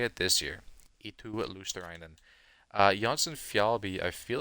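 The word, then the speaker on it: Eetu Luostarinen: Eetu Luosterainen.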